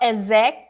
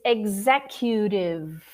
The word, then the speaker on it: executive: one more time executive so it's not ezek it's executive or executive if you